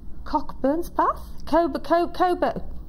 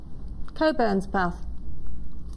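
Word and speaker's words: Cockburnspath: And this is 490, and this is from Susie, and Susie's from Cockburn's Path? Coburn's Path. Is that right? She said you pronounced Coburn's Path, there you go.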